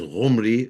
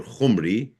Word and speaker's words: Omri: The Hebrew name Omri begins with the constant Y called Ayin, which is pronounced with the guttural H and is represented in Assyrian transliteration as G or Ch. The Israelite would naturally pronounce Umri as Ghumri or Khumri, which became Khumri in Assyrian.